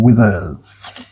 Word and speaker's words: Withers: Blair Smith, Leonard Copeland, and Justin Withers. Rhymes with Smithers.